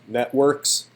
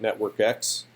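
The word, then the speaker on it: NetworkX: This is probably pronounced networks, but that's confusing to say if you aren't looking at the text, so I'm going to incorrectly always call it network X.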